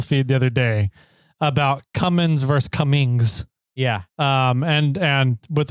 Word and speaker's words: Cummins: I was listening to the current episode, and Jimmy, it's Cummins. The G is silent. There's no G.